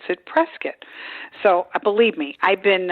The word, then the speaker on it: Prescott: called prescott but i would always call it prescott and they look at me funny and they and it's spelled prescott but they pronounce it prescott so believe me i've been uh corrected many